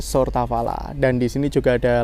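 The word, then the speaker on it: Сортавала: Tulisannya kayak Choptabana tetapi kita membacanya Sortavala dan di sini juga ada layar yang menunjukkan jadwal kereta api yang berangkat dari sini.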